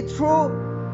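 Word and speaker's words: through: थ्रू to saleable है जी, थ्रू जी एच आगे silent हो रहा है.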